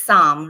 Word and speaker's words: Saam: Yeah, well, it's Psalm, right? Psalm, am I saying it correctly? Yes. Okay. Yeah, that's correct.